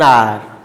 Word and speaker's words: hour: An hour. Though the word is beginning with the H, but H is silent here.